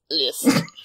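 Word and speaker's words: Liszt: list list list list you have to like really pretend you're Austrian list um actual lists playing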